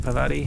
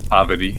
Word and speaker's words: Parvati: Oh, so how do you say it? Pavati. Is that it? Poverty. Poverty. Sorry. Emphasis on the first syllable.